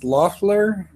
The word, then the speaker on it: Loffler: you get that right so it's Loffler hard german name think about that one